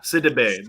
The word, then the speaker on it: Sidibe: Yeah, Sidibe. The D goes before the B.